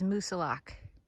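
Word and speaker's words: Moosilauke: one I believe is Musa lock don't pronounce the e just got some photos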